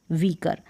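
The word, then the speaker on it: weaker: यहाँ पर देखें, यहाँ जो ई और ए है ना, इसका उच्चारण बड़ी ई के रूप में हो रहा है, यानी साउंड इसका लॉन्ग है, प्रोनाउंसिएशन आप हिंदी में समझे तो बड़ी ई के रूप में। वीकर है, ई आर को अर करके प्रोनाउंस किया है।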